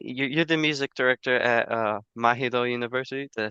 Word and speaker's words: Mahidol: You're the music director at Mahidol University.